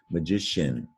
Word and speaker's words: magician: an sh social here's magician ci magically sounds like an sh magician or a magician so